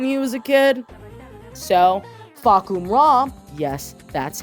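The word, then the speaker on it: Fahkumram: lear's neighborhood when he was a kid so fak ra yes that's how it's pronounced is tekken's Hardcore edgy attempt at a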